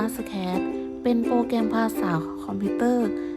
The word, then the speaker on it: Scratch: ความ หมาย ของ โปรแกรม scratch อ่าน ว่า สแคช เป็น โปรแกรม ภาษา คอมพิวเตอร์